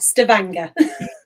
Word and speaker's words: Stavanger: Gina, how's my Norwegian pronunciation? Not too bad, Stavanger.